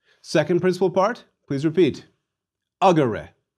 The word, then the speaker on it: agere: Agere. Where was the stress? The E in the second to last syllable was short. So, agere. Please repeat.